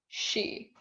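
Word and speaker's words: 四: word for for and the word for death have in japanese have basically the same pronunciation she so 24 can become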